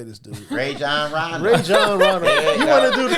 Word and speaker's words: Rajon Rondo: Rajon Rondo.